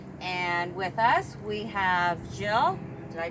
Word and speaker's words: Gilles: Race Canada contestants, and with us we have Gilles. Did I pronounce that Yes, right?